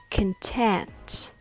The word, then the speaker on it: content: content content has the stress on the second syllable so the first syllable is reduced it becomes smaller and weaker like can can content other words like computer control compare all has the first syllable reduced so it's not pronounced as khan it becomes ken i hope the content